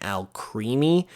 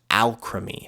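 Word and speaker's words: Alcremie: how it's pronounced but it actually gets part of its name from the word alchemy so the name is actually pronounced alchemy so it's kind of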